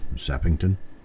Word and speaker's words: Sappington: simple name to pronounce Sappington how else could it possibly be pronounced sepignton I don't know I'm having trouble even coming up with something that would be incorrect yet close it's like Washington I mean how hard is it to spell Washington and pronounce it sappington's not that far off many of us have